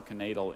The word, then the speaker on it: knaidel: Max hoped to find at least one more knaidel in his soup bowl, but all he discovered was his missing lower denture.